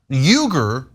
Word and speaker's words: Uygur: Uygur is actually not Uygur. I say Uygur to make it easier. It's Uygur.